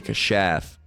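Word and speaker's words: כָּשַׁף: But we'll get this anyway because kasap, or kashaf, let's see, how does it pronounced? Strong's H, 3784. Kashaf. Kashaf. Right, they say kashaf.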